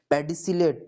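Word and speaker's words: pedicellate: चलो spelling, SESSILE, sessile. Okay, पेडिसिलेट, PEDICILLATE, पेडिसिलेट।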